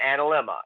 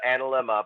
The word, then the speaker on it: analemma: eight um oh and an and a lemma okay yes an analemma exactly my mind went exactly to analyma but i forgot how to pronounce it um and that's